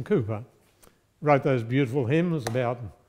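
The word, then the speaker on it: Cowper: know about William Cooper when you were young you pronounced it William cper but of course none of you would do that now it's William Cooper wrote those beautiful hymns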